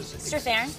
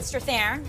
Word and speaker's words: Strathairn: Strathairn. David Strathairn.